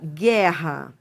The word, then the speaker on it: guerra: Ou seja, realmente você não você não escuta o som do U. Você você escuta o som do G. Então, por exemplo, quando você fala assim, ó, guerra, isso aqui é um dígrafo.